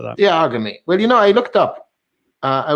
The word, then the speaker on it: iag.me: Well, it is technically iag.me, but we were talking about this before. I think you should pronounce it in a very Italian way. So, Iagmi, like that. I think that sounds quite good.